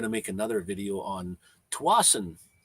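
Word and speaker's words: Tsawwassen: That's Tawasin. Now I went to Tawasin again and took some video out there and the trip out there. So I'm going to make another video on Tawasin.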